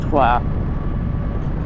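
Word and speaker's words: Troyes: We're actually going to meet up in a place called Tua, which is well, if you're English, it's spelled Troy's, but it's pronounced Tua.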